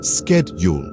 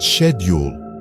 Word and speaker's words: schedule: pronounce it as Vitamin similarly schedule is pronounced as schedule in American English but shedule in British English and it's not just